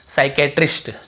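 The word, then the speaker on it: psychiatrist: एस से पहले पी आए तो पी साइलेंट होता है।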